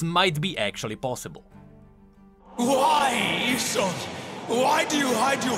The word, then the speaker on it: Isolde: her, but most importantly, in the past I pronounced it Isolde, which kinda makes more sense seeing how it's spelled. But it is Isolde, so excuse me if I pronounce it wrong out of habit.